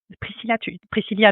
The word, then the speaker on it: Priscilla: Alors, Priscilla, du coup, je prononce bien le i parce que je l'avais mal fait au début.